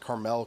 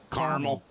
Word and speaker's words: Carmel: El's table so Jezebel you pronounced Carmel correctly too see thank you you see you know caramel Mount Caramel caramel Mount Caramel see that just sounds like a Candy Land kind of thing I love it are you telling me you don't like that no I love car I love caramel but like when you say caramel when it's not pronounced correctly of the actual Mountain it it does it